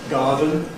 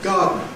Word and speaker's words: garden: Likewise, garden gives you garden.